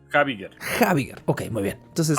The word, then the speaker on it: Habiger: este momento con el apellido de Abiger o Abiger, no sé cómo se pronuncia, pero creo que es Abiger. Es Habiger.